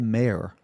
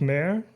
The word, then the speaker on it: Mare: Maybe this is a dumb question, but why is it called Mare? It's called Mar, not mayor.